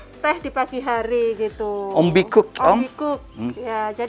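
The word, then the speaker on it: ontbijtkoek: Ombikuk, Om? Ombikuk. Ya, jadi tulisannya bukan gitu ya, Mbak? Tulisannya begini Oh, tapi. tulisannya Bahasa Belanda memang. Bitece koek. Tapi bacanya Ombikuk ya.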